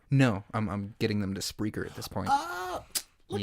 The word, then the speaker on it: Spreaker: And you're going to just type Spreaker. Spreaker. Hell yeah. Macaui told you how to spell it. But if you want to hear it again, Spreaker. Speaker with an R. Spreaker. SP as in Peter.